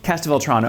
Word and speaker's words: Castelvetrano: But what we have here are Castelvetrano olives. If you don't say it quickly, you say it wrong. Castelvetrano, and they are my favorite olive.